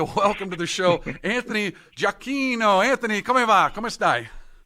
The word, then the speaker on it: Giacchino: So I'd like to welcome to the show Anthony Giacchino. Anthony, come va? Come stai? Bene. And thank you very much for the pronunciation of the name.